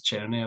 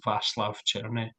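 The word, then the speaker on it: Václav Černý: name um yeah is it's it's Cherney I believe I believe it's vast churny yeah you have know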